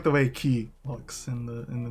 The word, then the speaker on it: Ky: have a just Moon good girl it is pronounced butterface I think Moon good girl look KY probably yes it's key not Kai oh sorry I like calling him KY kis